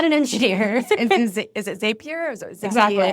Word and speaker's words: Zapier: Is it Zapier or is it Zapier?